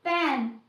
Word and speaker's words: pen: ऐसे ही पैन, PAN, पैन, एंड PEN, पेन। Difference पता कर सकते हैं। एंड हमारे प्रोनाउंसिएशन के चेंज होते ही, वोवल साउंड चेंज